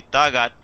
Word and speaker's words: takat: mayoría de los pueblos, la K, ¿verdad?, se pronuncia así, Tagat, pero hay otras partes en las regiones altas de la variante del náhuatl que la K se pronuncia más fuerte como K, por eso se puede